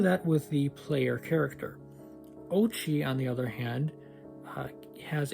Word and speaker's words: Oatchi: Sorry, I still want to call him Oachi, but it's pronounced Ochi.